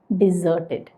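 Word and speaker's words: deserted: ഞാൻ ആ വാക്ക് എങ്ങനെയാണ് പ്രൊനൗൺസ് ചെയ്തത് എന്ന് നോക്കൂ ഡിസേർട്ടഡ് ഇനി അടുത്ത പെയർ ഓഫ് വേർഡ്സ് നോക്കാം കാണാമല്ലോ ഇവരും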